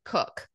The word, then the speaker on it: Koch: family in our church that had that last name but they pronounced it cook so yeah we had